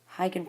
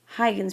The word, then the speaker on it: Huygens: Huygens pronounced the American way. I'm not sure how to pronounce it in Dutch.